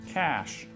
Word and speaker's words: cachet: The man can pronounce every word in the dictionary. Cash or cachet? Cash.